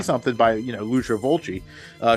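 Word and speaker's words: Fulci: something by you know loser volci uh who I pronounce Lucio folsey at the time because I had no idea um and I would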